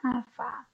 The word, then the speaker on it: alfa: padat itu adalah Alfa Alfa ini penulisannya seperti Huruf a kecil Ya seperti ini ini dibacanya Alfa Alfa ya yaitu koefisien muai panjang